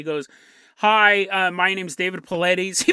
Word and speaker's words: Paulides: He walks out on the screen, and he goes, "Hi, my name's David Paulides." He pronounces his name correctly.